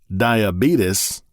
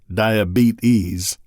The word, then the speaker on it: diabetes: It can be pronounced diabetes or DIE-A-BEET-IS.